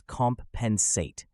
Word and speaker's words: compensate: sentence the company will compensate employees for overtime work notice how we emphasize comp at the beginning understanding the meaning is